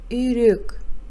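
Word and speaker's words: үйрек: раздел дурос айт произноси правильно пишется Ирек произносится Ирек Каз пишется того произносится таук пишется и кустар произносится и густора пишется прочитаем И переведем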